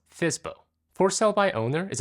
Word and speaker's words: FSBO: FSBO, pronounced FSBO.